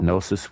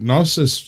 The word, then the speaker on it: gnosis: But the reason that the G is silent is because it comes from the Greek word, which sometimes you get and it's like a gneo sound.